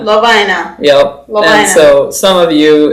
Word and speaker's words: Lovina: So, the so the correct pronunciation is Lina. Lovina. Lovina.